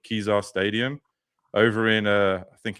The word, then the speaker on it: Kezar: But yeah, shall we talk about Kezar Stadium? I would assume that's how you say it. Yeah, it's Kezar. It's 100% Kezar Stadium.